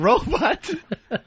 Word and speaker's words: robot: But you put the stress on the first syllable. And that's wrong? Yeah, no, it's robot. Second syllable. Robot. Not robot.